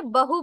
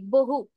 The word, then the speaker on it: বহু: এখানে বহু বলছি, বহু, দুটো ঠোঁট একসাথে করে বহু। আর এটাতে বলছি বদ। তো দুটোর উচ্চারণ খেয়াল করবেন, আলাদা আছে। এইভাবে করেই আপাতত শিখুন।